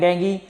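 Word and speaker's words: dengue: एज a carrier of डेंगू। अब देखिए एक और फीवर होता है डेंगू फीवर, का नाम सुना होगा आपने, डेंगू भी बोलते हैं और डेंगी, ठीक है, मैं इसका प्रोनाउंसिएशन डेंगी कर रहा हूँ, ठीक है।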